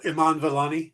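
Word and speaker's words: Iman Vellani: it immani is that how her name is pronounced or Iman Iman valani Iman valani I'm taking the I from her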